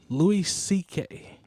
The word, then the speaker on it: Louis C.K.: Louis C.K.